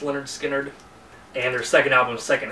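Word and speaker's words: Lynyrd Skynyrd: This is their first album, pronounced Leonard Skinner, and their second album, Second Helping.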